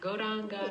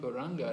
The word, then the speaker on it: Gauranga: Радха Кришна is a four-syllable mantra. И Радха Кришна – это мантра из четырех слогов. And Gauranga is also four syllables.